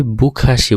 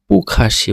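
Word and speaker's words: 不客气: আগেই বলেছি বুখাসি বলা যাবে না। পুখাসি বলতে হবে।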